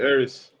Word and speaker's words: Ari: all right i like arie better okay it's scary it's validated all right yeah hurry if you say it ari it's like like you say it in greek ari they they actually say